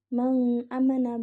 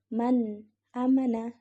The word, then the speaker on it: man amana: sukun bertemu dengan Hamzah maka bacanya harus jelas jadi bukan mengamana bukan jadi Man amana nah Oke Eh kita